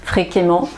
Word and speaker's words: fréquemment: si vous avez entendu mais la prononciation est exactement la même pour les adverbes qui se terminent par e dem entt et a dem ant fréquemment couramment d'accord donc ne dites pas fr fréquemment je ne sais pas fréquemment mais fréquemment voilà donc bien penser à avoir la même prononciation e 2m ent ça donne amant voilà euh alors maintenant